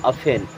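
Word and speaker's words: often: अफेन, अब यहाँ पे टी साइलेंट होता है, इसे आफ्टर नहीं पढ़ते, इसे पढ़ते हैं अफेन।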